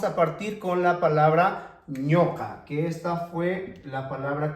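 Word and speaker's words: ñuqa: No digo en ningún momento ñuca, digo ñoca, ñoca.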